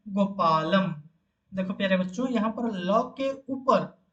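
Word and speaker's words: गोपालं: और ये जब इसको जब हम उच्चारित करेंगे व उच्चारण करेंगे, क्या बोलेंगे ना, गोपालम। ल के ऊपर जो अनुस्वार है वो म जैसा उच्चारण होगा, अतः हम इसको उच्चारण करेंगे गोपालम।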